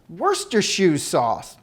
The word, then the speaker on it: Worcestershire: lover Queenie Botox rights try to pronounce it booster shoe Wurster shoes sauce the word is a lot shorter than it looks practice makes perfect great